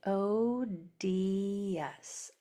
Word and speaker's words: odious: So what would this word say? It would say odious. Odious. And since it's a 3-syllable word, when you have a 3-syllable word, usually that first one is accented. So we're going to put the stress on this O.